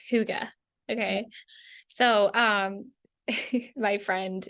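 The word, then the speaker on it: hygge: it's pronounced higgy or it looks like higgy but it's pronounced Huga okay so um my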